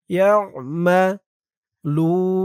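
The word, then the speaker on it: يعملون: ইয়া দিয়ে আইন ধরবে আইনের উচ্চারণটা গলার ভিতর থেকে শক্ত হয়ে বের হবে ইয়ামা লুন এই যে এটার মতো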